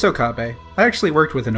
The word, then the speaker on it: Okabe: I don't know how to pronounce shit. Yeah, it's Okabe.